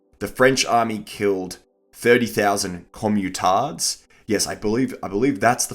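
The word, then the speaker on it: communard: The French army killed 30,000 commutards. Yes, I believe that's the French pronunciation.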